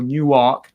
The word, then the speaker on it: Newark: in special elections so in Europe or Newark Delaware as they pronounce it locally they had